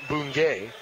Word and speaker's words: Bungay: I was mispronouncing this player's last name. It's Preston Bungay.